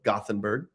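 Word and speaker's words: Gothenburg: Uh, Yuri thought I mispronounced Yotborg. I used the anglicized treatment of Goththingberg.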